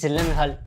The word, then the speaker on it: Gyllenhaal: I'm pronouncing it correctly it is a Swedish name is it not it